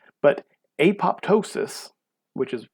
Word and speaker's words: apoptosis: called apoptosis or sometimes you'll hear it called epotisys but apoptosis which is how it's more normally pronounced is something called programmed cell death programmed